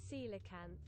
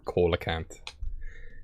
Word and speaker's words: coelacanth: yes we have the it is pronounced silicate isn't this coelacanth i knew it yeah coelacanth's not called coal account so that's a remember